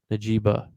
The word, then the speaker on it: Njigba: My next guy, Jackson Smith Najiba. I don't know how to say his last name. Butcher these names so bad. He spelled them. Me neither. But Jackson Smith and Jigba. yes, Jigba.